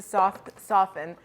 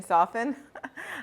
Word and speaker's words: soften: bit of time to soften. Did you guys know that you don't pronounce the T in soften?